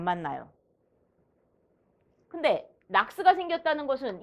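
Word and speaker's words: NOx: 연소 조절에 의한 낙스를 억제하는 방법이다. 옳지 않은 것은 얘를 낙스라고 읽어요.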